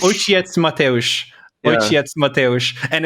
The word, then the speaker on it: Ojciec Mateusz: How do you pronounce it? Ojciec Mateusz. Ojciec Mateusz.